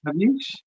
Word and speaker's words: Javish: And how do you pronounce it? Is it Javish? Javish, Javish Javish.